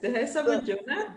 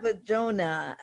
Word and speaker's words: Dihessa Bodjona: Yes, Dihessa Bodjona. Bodjona.